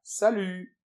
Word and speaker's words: salut: nous fait u et on ne prononce pas le t final. Salut.